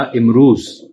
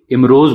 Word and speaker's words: امروز: کی مثال لے لیں۔ فارسی کے لحاظ سے اس کا تلفظ ہوگا امروز، اور صحیح بھی یہی ہے، لیکن ہمارے ہاں یہ امروز بولا جاتا ہے۔ اس کو زبان کے